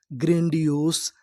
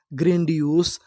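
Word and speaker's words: grandiose: आपको बता दूं कि अगर आपको आखिरी में इ लिखा मिले तो हम लोग ई का उच्चारण नहीं करते कहने का मतलब इंग्लिश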